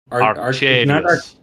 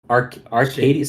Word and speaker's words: Arcadius: Arcadius. Arcadius. Say it again. Arcadius. Arcadius. Arcadius. With the little roll of the Arcadius.